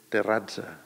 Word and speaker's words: Terrassa: Terrassa es pronunciava amb la E no neutra i amb la C trencada amb una forma diferent. S'hauria de dir Terrazza.